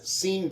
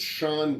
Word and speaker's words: Sean: villains I mean spoilers how come his name's not scen Bean why is it Shan Bean Sean Bon well it's spelled the same Shan Ben yeah what